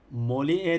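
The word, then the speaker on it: Molière: şu anlayacaksınız ayracının da ki kelime yine bakıyorum molyer E moller demek ki mor mor mor şeklinde okunuyormuş diye ne yapacağız bileceğiz yerimize koyacağız Arkadaşlar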